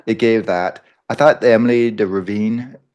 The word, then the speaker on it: Emily de Ravin: gave that I thought Emily de Ravine that's how we say her name I thought she was